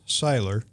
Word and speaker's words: Seiler: have to correct you my last name is pronounced Seiler Seiler German I'm oh I'm I'm